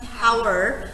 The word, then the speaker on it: hour: چی گفت hour پس اچش چی شد؟ اما اگه اطلاع داشته باشید pronunciationشو بدونید و بدونید تو این کلمه h قرار نیست تلفظ بشه به listeningتون و understanding یعنی فهمتون رو کمک میکنه.